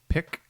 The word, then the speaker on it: PIQ: sure to head to pick which is PIQ which I had to look up is that's the way you pronounce it the gallery on May